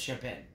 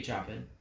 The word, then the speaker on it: Chopin: It's spelled Chopin, but it's Chopin. Could be Chopin.